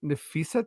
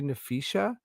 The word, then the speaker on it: Nefisa: But uh like Nefisa turning into Nefishia is like there's no H.